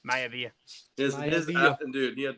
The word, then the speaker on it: Maivia: Malvia? Maivia.